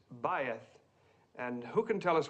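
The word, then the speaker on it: בית: Faith. Well, almost right, Mr. Crane, thank you. The correct pronunciation is bayeth.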